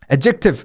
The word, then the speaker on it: adjective: adjective 그렇죠. adjective 어션영어님이 적어주셨는데 지금 발음 기호를 adjective 제가 강세를 잘못 줘서 그랬어요. adjective가 아니라 adjective. 앞에 강세요.